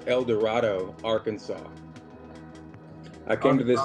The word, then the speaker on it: El Dorado: based now I'm in a place um it's pronounced El Dorado Arkansas I came to this little town a